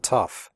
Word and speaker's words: tough: The O-U-G-H in tough is pronounced uff, like in stuff.